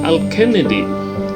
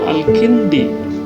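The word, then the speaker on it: الكندي: Dibaca Al-Kennedy, padahal itu mata kuliah filsafat Islam. Yang sebenarnya kalau mengetahui tata bahasa Arab yang benar itu Al-Kindi, nama seorang ilmuwan pada zaman itu, pada zaman Islam mencapai kejayaannya. Begitu jauhnya antara Al-Kennedy dengan Al-Kindi.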